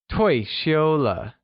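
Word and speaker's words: 退休了: or the fifth tone let's hear you say toy Sheila that's great now let's review the professions we've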